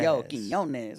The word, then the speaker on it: Quiñones: And so now when I tell people how to say it, I'm like, just think of the yo, Quinones.